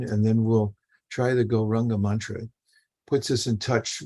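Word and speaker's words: Gauranga: it last week and it's actually a four syllable mantra although it sounds like only three it's very famous mantra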